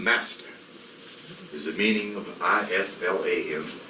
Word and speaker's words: Islam: is the meaning of i-s-l-a-m that does not mean Islam it's pronounced Islam and Salam means peace the